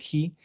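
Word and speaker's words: ἡ: Y este otro I, que se pronuncia he, es el pronombre la, ¿sí?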